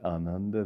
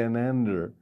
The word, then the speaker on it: Ananda: he said ananda ananda and ananda and we pronounce it ananda there we don't say anan because it's already enough to get americans not to say ananda an englishman not to say anander and so praise god for small victories at